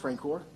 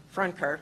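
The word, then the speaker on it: Francoeur: If you ever took high school French, the last part is cur. Is that pronounced Francor? Franker.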